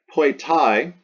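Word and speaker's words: poetae: Poetai, that ae pronounced I, this is the nominative plural ending.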